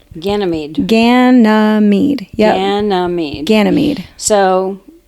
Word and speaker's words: Ganymede: So we have to go into the Greek pantheon, and his name is Ganymede. Ganymede.